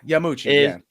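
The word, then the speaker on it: Yamauchi: How do you pronounce that? Yamayuchi? Yeah, Yamuchi.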